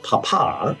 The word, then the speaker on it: papa: family refers to as Papa emphasis on the second syllable papa papa purchased her cello for